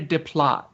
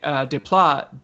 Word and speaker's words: Desplat: whereas Alexandre Desplat did the Majority. most of the. It's Yeah. Desplat. Desplat. No, it's not this You flat. gotta say it like an American. Alexandre Desplat. Nice. Nice. D-splat.